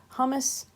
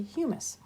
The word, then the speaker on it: humus: And humus is not how you pronounce this. This is actually humus. Don't confuse it with the snack that you eat with some nacho chips, hummus.